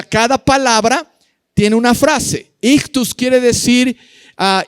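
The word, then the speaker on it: ἰχθύς: pez en el idioma griego es la palabra ictus y ch t u s ictus ictus ictus es la palabra parapes o pescado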